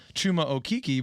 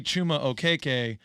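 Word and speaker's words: Chuma Okeke: he for his life chuma okiki but he he did some digging into you know his cultural background and he's realizing that it actually should be pronounced okay and we just so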